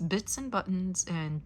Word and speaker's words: Bitz and Buttons: It's Bitz and Buttons, and Bitz is spelled with a Z at the end, so check them out.